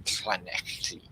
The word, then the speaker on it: Llanelli: Brian Buradabach, who's here in Wales, in Llanelli. Okay, we don't say L's. If it's a double L in Wales, it's pronounced like the same sort of muscles that you need to vomit.